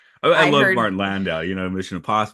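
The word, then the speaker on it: Landau: he he just gets uh um yeah water landow plays him and he just gets like all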